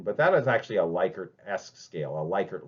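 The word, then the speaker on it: Likert: measures of social psychi psychology is called the lickard scale. Um some people report we're we're uh pronounced as liyker, but if you actually look up on Google, which you now can, it is pronounced liyker.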